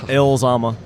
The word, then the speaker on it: Llama: don't know where they I believe they pronounced Yama it is it is pronounced YC y but will you americanize it no Yama I pronounce it elama yeah Yama which uh it also means I